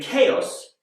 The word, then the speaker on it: chaos: But in chaos, it's a k, like in cat.